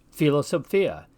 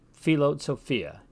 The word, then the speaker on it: philosophia: of those double consonants in the Latin word for Philosophy for instance philosophia we hear both the p and the H again philosophia as for the combination